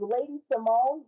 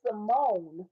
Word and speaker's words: Samoan: by the channel is Lady Simone, the lady of crochet. My middle name is Simone, but it's spelled S A M O A N, which is Simone.